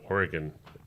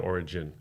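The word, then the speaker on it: Origen: And in one of his books, I think he says Oregon, is it Oregon or origin? Origin. Origin. It's a soft G.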